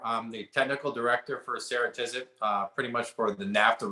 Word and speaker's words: Ceratizit: by the name of sarah tisit and it only took me 20 minutes to make sure that i said it right the first time sarah tizit it's really kind of